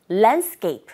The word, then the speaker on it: landscape: 우리 글자 그대로 발음하게 되면 랜드스케c이프 하시게 될 텐데 원어민의 소리를 들어보니 landcap. 첫 번째 포인트는 랜드에 사운드와 디사운드가 맞물려 있는 경우 디사운드는 아주 미약하게 들리게 되고요. 스케이프에서도 스케이프가 아니라 스케이프 스케이프 S 그다음에 C 소리가 된 소리 현상이 일어나죠. 그래서 landcape 마지막 풋 사운드는 아주 약하게 들어 보세요.